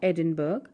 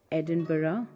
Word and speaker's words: Edinburgh: djf another city that is pronounced with most syllables than it looks like it would be Edinburgh it is not Edinburgh but Edinburgh talking about famous tourist spots how can we